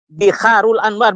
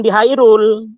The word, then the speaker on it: Biharul Anwar: Ya, Biharul Anwar, bukan Bihairul. Kalau debat dengan saya harus yang benar membacanya ya.